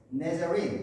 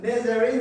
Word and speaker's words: Nazarene: 그리고 나사렛이 아니라 원래 영어 발음으로는 네자린이에요.